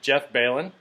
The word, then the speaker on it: Belin: Hey everyone, this is Coach today, and I'm here with Jeff Balin. Pronounce that right?